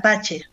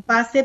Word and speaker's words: Pace: tratábamos con el apellido mi apellido se pronuncia pache la gente lo conoce como pase por una cuestión de